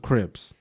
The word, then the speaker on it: Crips: believe was throwing up Crips you know you dropping real names now we usually say it rhymes with drips this guy so so